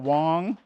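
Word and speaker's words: Wonge: Again, I go by the name of Wong. That's spelled W-O-N-G-E.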